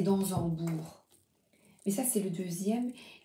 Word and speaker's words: d'Ansembourg: Je suis en train de relire les livres de Thomas d'Ansembourg. Oh, je crois que je prononce mal. C'est d'Ansembourg.